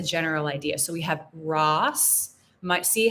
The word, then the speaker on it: Ross: So with the O, it's Ross, Ross. And with the U, it's Russ, Russ. It's an That's a very American English sound.